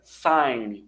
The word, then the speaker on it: sign: Esse G é mudo, por isso que fica sign, one-way traffic sign, sinal de trânsito, né, de caminho único, mão única, one-way.